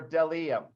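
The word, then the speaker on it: bdellium: although i knew it that b probably didn't say its own name but it's del em b is for dellium okay we doubt anyone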